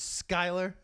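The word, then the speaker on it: Schuyler: are the dog 19 you're telling me SCH uy l er is Skyler that's how much cool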